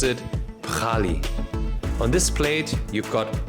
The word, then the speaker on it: Pkhali: It's called Pkhali, or how they pronounce it, Pkhali.